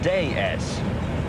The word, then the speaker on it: DS: And that's not such a fatuous analogy, actually, because what we call the DS is, in France, pronounced déesse.